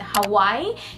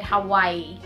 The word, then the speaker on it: Hawaii: So there are actually two pronunciations for that, and sometimes people are saying it Hawaii, and sometimes they're saying it Hawaii.